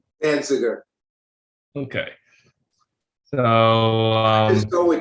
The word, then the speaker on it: Danziger: Danziger.